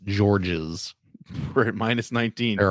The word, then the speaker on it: Georges: I believe it's pronounced Georges.